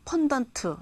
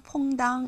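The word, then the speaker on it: fondant: 잠깐 나왔는데 뭐 퐁당 펀던트 이런 말이 나왔습니다 이건 뭐냐 하면은 어 스펠링은 f o n d a NT 펀던트라고도 하고요 불어나 이쪽에서는 퐁당 이렇게 말을 합니다 외우기는 쉽죠 설탕 100g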